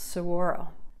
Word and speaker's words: Saguaro: how do you pronounce that cactus so that's pronounced Saguaro did you know that it can take up